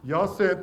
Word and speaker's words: Jacinth: How do you pronounce the next one? Yasin. Jacinth, and how do we say it today?